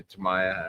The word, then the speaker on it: Tamiya: Yeah, it's one of those weird things because, well, James would know, like, there's no emphasis on the syllables, so to speak, of Japanese last names.